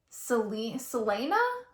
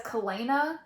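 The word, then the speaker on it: Celaena: and her name, literally, I change the pronouncing every single time I read it, but I think it's supposed to be Selena, but I pronounce it as Kalena or Kalina in my head.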